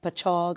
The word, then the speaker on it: Patchogue: Joseph's College in Patchogue. I hope I'm saying it right. Patchogue, it's on Patchogue, Long Island.